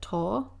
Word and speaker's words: tau: I've always pronounced it TAU.